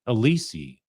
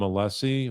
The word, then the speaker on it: Alessi: alessie you know what he calls him all the time alisi that's not how he pronounces his name once in a while once in a while you see uh Brean Brennan whatever you call it um slip up and and call him alessie is the way he pronounced his name but uh I think